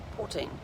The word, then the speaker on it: poutine: eaten before i finally train tested protein protein poutine p-o-u-t-i-n-e helen on pronunciations truthfully i'm not sure what all the